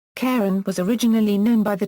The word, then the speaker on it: Charon: pronunciation of the name the practice of following the classical pronunciation established for the mythological fyman Karen is used by Major English language dictionaries such as the Mariam Webster and Oxford English Dictionary these indicate only one pronunciation of Karen when referring specifically to Pluto moon with an initial k sound speakers of many languages